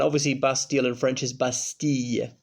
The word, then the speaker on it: Bastille: In France it's la Fête Nationale, and obviously Bastille in French is Bastille, double L is usually pronounced like a Y in French, usually.